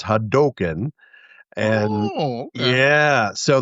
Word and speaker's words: Hadoken: I've heard people say, you know, tomato tomato, but they said it's pronounced Ryu and it's not haduken. It's Hadoken and Oh, okay.